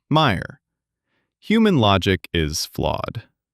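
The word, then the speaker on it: Mayer: It's mayor spelled like mayor pronounced like Meyer.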